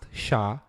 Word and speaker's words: SHA: used is sha 256 sh stands for secure hash algorithm is pronounced sha and is in fact